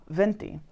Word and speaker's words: binti: one, so HESHIMA KWA BINTI, which is actually spelled B-I-N-T-I, but they don't pronounce their B's that way.